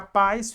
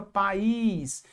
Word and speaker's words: país: Para não ficar pais, fica país.